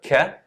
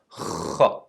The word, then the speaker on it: خ: So it's not ka, it's kha.